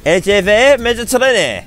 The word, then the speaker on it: LGV Méditerranée: LGV Méditerranée.